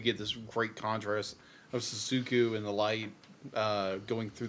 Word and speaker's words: Shizuku: And it's just done beautifully because you have so many scenes where our main character, how do you pronounce her name again? Shizuku.